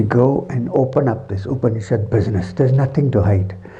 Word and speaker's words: Upanishad: So, the meaning of the word Upanishad. Upa, the first word is Upa, the second syllable is Ni, and the last syllable is Shad. Upa, Ni, Shad.